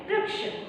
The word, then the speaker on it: वृक्ष: और इसी का समान अर्थ वाला एक शब्द है वृक्ष. वृक्ष हिंदी में हम इसे वृक्ष पढ़ेंगे. हिंदी में हम क्या पढ़ते हैं? इसे वृक्ष. लेकिन मराठी में इसका याचं उच्चारण वृक्ष असं होतं.